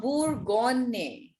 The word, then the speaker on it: Bourgogne: The first wine that is given is Le Bourgogne. Le La Bordeaux. Bourgogne. Gogne nahi. It's not Gogne. It's Gonne. The next G is silent.